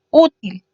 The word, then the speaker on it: útil: El último ejemplo sería útil. Útil se divide en 2 sílabas también, u y til, siendo u su sílaba más fuerte y una vocal además, por ende lo tildamos.